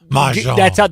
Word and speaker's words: mahjong: Boy, you say it so well. Mahjong. That's the proper pronunciation.